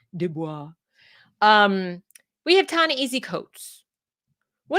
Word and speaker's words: Du Bois: Sorry, I say Du Bois because I think that's how they pronounced it when he was alive, but it's Du Bois.